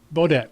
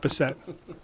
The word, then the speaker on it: Bodette: Bodette, not Bissett.